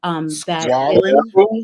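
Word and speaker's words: squalane: Squalene? Yes, I'm squalene or squalene. Squalene. That's the right way to pronounce it.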